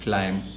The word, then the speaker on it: climb: ladder of education again pronunciation of climb b is silent it's not climb slime i put it again